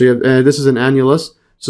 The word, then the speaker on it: annulus: So an annulus, see this pronunciation here?